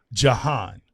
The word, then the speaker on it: Jehanne: I am your host Chris Moses and today sitting with me in the firehouse is we're going to say but I need to get the name right and it's Jan.